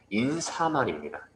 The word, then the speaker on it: 인사말: 이 인사말을 잘못 발음하는 친구들이 정말 많아요. 인사말이라고 발음하는 친구들이 정말 많은데 인사말입니다.